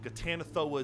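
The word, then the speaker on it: Ghatanothoa: and this volcano lore 12 touts to have created the most realistic version of a in-game demon god named gatanethoa gatanethoa is spelled g-h-a-t-a-n-o-t-h-o-a and there is a disclaimer at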